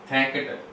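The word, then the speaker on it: thanked: Word हो जाएगा जैसे थैंकट, थैंक्ड हो जाएगा, तो नेकेटे हो गया है थैंकट, क्योंकि यहाँ पे भी जो ईडी लगा है उसका प्रोनाउंसिएशन टाई है, ठीक है।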